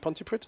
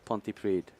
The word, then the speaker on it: Pontypridd: Pontypridd? Pontypridd.